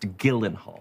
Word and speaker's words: Gyllenhaal: No, Gyllenhaal. Your name is pronounced Gyllenhaal.